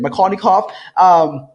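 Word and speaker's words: Markovnikov: Makarnikov, he's a Russian chemist, right?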